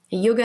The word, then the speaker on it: yoga: to our listeners um we pronounce yoga yog actually it it's a western uh mispronunciation of that's okay it's